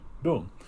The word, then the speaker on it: Deng: was now pronounced as Dung, like D-U-N-G, Mao Zedong. The guy who followed him was Deng Xiaoping. Even though the name was spelled D-E-N-G, it was pronounced Dung.